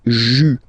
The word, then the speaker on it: juin: Okay, and then here, well, it's a bit tricky, but still, in goes like un, okay, and then you get juin, okay, let's see them one more time.